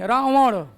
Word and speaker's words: रावण: जैसे ये वाला, ये, ठीक है ना, रावण नहीं, रावण, इसको न बोलते ही नहीं है, अड़ उच्चारण होता है, रावण, ठीक है।